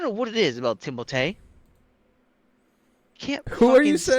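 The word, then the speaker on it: Timothée: him I his name Timothy timot timot okay that's how it's pronounced how he's like yeah it's pronounced timot but people call me Timothy cuz he's like French uhhuh but like yeah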